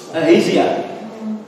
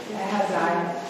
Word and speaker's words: Ahaziah: How do you pronounce that? Ahaziah. This is. Ahaziah.